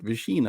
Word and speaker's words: Visina: Visina.